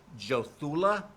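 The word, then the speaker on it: Jyothula: Jothula. The Y is silent.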